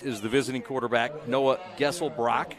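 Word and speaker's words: Geselbracht: the visiting quarterback Noah gessel Brock gessel Brock spelled g-e-s-e-l-b-r-a-c-h-t the tea is salad the tea is silent he's a 65 passer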